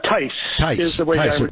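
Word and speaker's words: Theis: of charlotte and uh lana thais is how you say it right uh tys yes yes very very excellent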